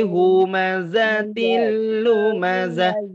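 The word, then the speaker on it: همزة لمزة: ayat pertama wailul likulli humazatil lumazah tidak ada tidak ada tasydid pada kata Um Maza umum Maza tidak ada tapi dibaca humazatillumazah aku Diana Zahra tadi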